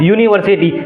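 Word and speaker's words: university: के अंदर आता है, लेकिन इसको हम लोग प्रोनाउंसिएशन कर रहे हैं यूनिवर्सिटी, यो आ रहा है पहला में यो आ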